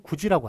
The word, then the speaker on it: 굳이: 반영을 하나입니까 안 합니까 우리가 굳이 발음 구지라고 하잖아요 뒤에 디귿이 일을 만나 가지고 지읒이 되죠 디귿이 되는데 이거 굳이라고 써요 구지라고 써요 안 한다 표기에 반영을